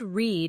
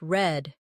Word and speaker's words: read: Notice, the word read is spelled the same, but sounds different. Yesterday, it sounded like red, but tomorrow, it sounds like read.